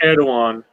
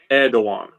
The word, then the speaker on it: Erdoğan: I just wanted to take a random Cenk Erdoğan Turkish fretless guitar improvisation and just let's watch it together.